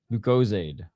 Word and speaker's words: Lucozade: Oh, Lucozade rhymes with paid. Lucozade.